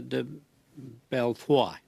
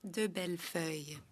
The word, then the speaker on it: DeBellefeuille: Now for 6 minutes, Madame de Belfoy. C'est bien, Monsieur le Président. Thank you very much, Chair. My name is pronounced de Bellefeuille.